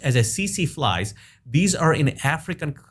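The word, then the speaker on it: tsetse: cc fly the spelling is t-s-e-t-s-e but it's pronounced as a cc flies these are in african continent and these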